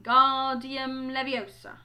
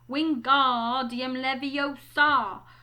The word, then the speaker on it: Wingardium Leviosa: much more luck when Guardium levy he shouted waving his long arms like a windmill you're saying it wrong Harry heard Hermione snap its Wingardium Leviosa make the GAR nice and long so you do it